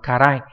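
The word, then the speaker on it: 辛い: Nếu để nói về món ăn ấy, thì sẽ đọc là karai, còn nếu nói về tâm trạng, cảm giác vân vân ngoài món ăn thì đọc là tsurai.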